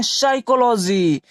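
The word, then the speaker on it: psychology: हम क्या पढ़ते हैं साइकोलॉजी यानी इसके पहले क्या है हमारा पी है तो यहां पी साइलेंट रहेगा यहां से शुरू करेंगे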